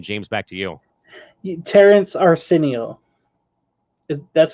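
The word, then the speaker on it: Arceneaux: Terrence Arsenio.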